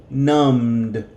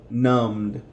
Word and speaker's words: numbed: So because it sounds like an M in past tense, numbed. The B is silent. Numbed.